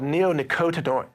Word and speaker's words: neonicotinoid: that again well it's in a class called neonicotinoid neonicotinoids is the class and that's just one